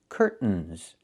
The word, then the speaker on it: curtains: This word has two pronunciations. I can say curtains or curtains. But don't say curtains. It's curtains with a real T. Curtains. Or I can use a stop T and say curt. Stop the air. Put the tongue up. Curtains. And go directly to the N. Curtains. So, curtains or curtains, both pronunciations are correct.